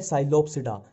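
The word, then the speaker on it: Psilopsida: Pteridophyta में इसमें P silent ही चलता है, जहां भी पी आ गया वहां साइलेंट ही चलेगा। अब देखो ये है साइलोप्सिडा, साइलो और ये साइलो, ठीक है।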